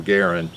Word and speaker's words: Garand: He actually pronounced his name Garin, but everybody calls it Garan, right?